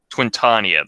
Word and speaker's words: Twintania: Twintania! Twintania, that's how you pronounce it, yeah.